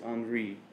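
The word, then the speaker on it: Henri: pronounce it wrong because the way i pronounced henry it's not henry it's andre so i'm not i'm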